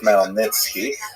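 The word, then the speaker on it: Khmelnytsky: It's actually pronounced Melnitzki uh with with a guttural at the beginning.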